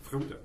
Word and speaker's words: Frodo: Frodo.